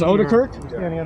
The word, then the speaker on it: Odirk: It is Odirk. Is that how it's pronounced? That's correct.